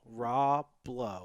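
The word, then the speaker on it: Rah Blow: I'm also, promoting some bands, and the only one I want to bring up is spelled R-A-H and then the word blow, R-A-H blow. Raw Blow.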